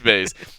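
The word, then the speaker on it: Buys: Sorry, it's hard to not say Bays. It's hard not to say Bays. Like, please just spell it with an A. Yeah, it's Bays.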